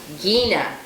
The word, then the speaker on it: Gina: How do you pronounce the first name? We're confused. Gina.